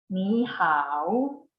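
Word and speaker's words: 你好: Did you notice that the tone for 你 and 好 doesn't sound like the same when they are together? 你好. They are both pronounced in the third tone, spoken individually. And when they are together, they are pronounced like this. 你好. So when 2 third tones are together, the first one turns into the second tone, but it's still written as a third tone.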